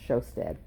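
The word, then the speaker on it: Sjostedt: and sam t e d t and that's pronounced showsted t-e-d-t-t i wonder why you spell it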